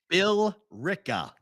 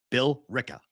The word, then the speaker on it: Billerica: the name of a city Billerica Billerica yeah Bill Rica villarica Bill Rica b-i-l-l-e-r-i-c-a Bill Rica Billerica Massachusetts yes Bill Rick and that season